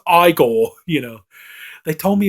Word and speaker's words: Igor: Frankenstein he's frank enstein and you know and like he has the assistant you know igor but he's like no it's pronounced i goal you know they told